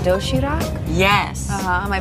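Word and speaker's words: 도시락: healthy variety of neatly packed food it's called dough sheeter yes am i pronouncing that right very good you can also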